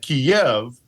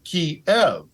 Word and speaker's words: Kyiv: Many Ukrainians take exception at that and say that Kiev, so if you hear that Kiev, that's Russian. But if you hear Kiev, that's Ukrainian.